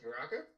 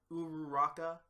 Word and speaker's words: Uraraka: Like Uraka? Which one? Uraka? Gravity? Oh yeah. I just call her Uravity because I love that name. Plus I can't say her name like Uraraka.